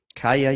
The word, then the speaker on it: Kaja: Caya. Yuvan. Just pronounce practice that pronunciation.